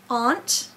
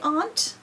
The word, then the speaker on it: aunt: Now, A-U usually says aw, aunt. And maybe over in Great Britain they say aunt, but we usually say aunt.